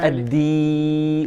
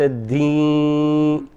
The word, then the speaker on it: الدين: الدين وليس الدين.